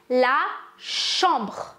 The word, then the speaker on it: la chambre: அது என்ன விஷயம் வந்து பார்த்தீங்கன்னா வந்து லா ஷாம்பர், அதாவது வந்து ஒரு ரூமை தான் வந்து ஒரு அறையை வந்து நாங்கள் லா ஷாம்பர் வந்து சொல்லுவோம். ஃபர்ஸ்ட்டு நான் உங்கள்கிட்ட ப்ரொனன்சியேஷன் பண்ணி காட்டுறேன். லா ஷாம்பர், லா ஷாம்பர், நீங்கள் எம்சின் சொல்லுங்க, லா ஷாம்பர்.